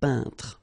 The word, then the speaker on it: peintre: So remember when you get this E-I-N together here, then you pronounce this un sound. So nasal in your nose, un peintre.